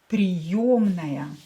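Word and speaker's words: приёмная: Yo is always stressed. Приемная.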